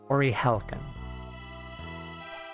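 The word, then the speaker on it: Orihalcon: It was an Orihelican. Orihelican. That's how you pronounce it. I've been saying it wrong the entire time. Yeah, because I thought the L was an I.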